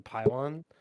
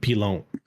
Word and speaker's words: pylon: The pylon, it's massive. Yeah, I don't. So, I mean, once they're in there, they're entrenched. I believe it's pronounced pilon. It's not. I think it is.